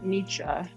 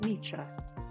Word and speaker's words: Nietzsche: I read some more Nietzsche, which I didn't realize this whole time, which sorry for the Germans in the chat.